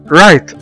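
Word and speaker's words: right: هنا زي ما احنا شايفين قدامنا حرف الجي جه بعد منه حرف الاتش فبقوا الاتنين سايلنت ما تنطقوش مع بعض وقلنا رايت.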